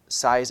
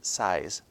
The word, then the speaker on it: Sieyès: Sieyès is spelled S-I-E-Y-E-S.